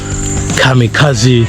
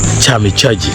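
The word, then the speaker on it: kamikaze: that I'm pronouncing wrongly they may think it's supposed to be pronounced chami chaji but it is Kami Kazi uh the best example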